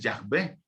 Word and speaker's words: Yahvé: Si nos vamos a la pronunciación más exacta del nombre de Dios, que es yo soy, o yo soy el que soy, vamos a ver que es Yahvé, que es la pronunciación en hebreo.